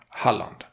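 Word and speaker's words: Halland: you should not Holly you should should say the a the same way as in lund oh but Holly will get you very close the to port should not sound separated like harlot lund but what will be said as one would say Holland so he would say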